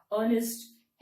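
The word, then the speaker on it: honest: letter P is silent P is silent but इट is there but वी डोंट pronounce it इन the same way knife के एन आई एफ E knife ऑनेस्ट एच ओ एन ई एस टी ऑनेस्ट ऑनेस्ट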